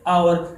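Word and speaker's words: hour: 2 घंटे, 3 घंटे, तो उससे पहले जो एच है वो आप लोगों ने साइलेंट करना है, और उससे पहले जो उसके बाद जो वर्ड्स है वो आपने क्या कैसे पढ़ना है, आवर।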